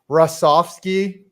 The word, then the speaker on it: Hrusovsky: Jo the thanks for stopping by everyone Dave rovski did I say it right there you go